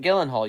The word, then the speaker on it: Gyllenhaal: know how to say his last name jake gyllenhaal remember taylor ex-boyfriend is like that guy the guy who plays mysterio which one yeah jake gyllenhaal you had it right oh i did okay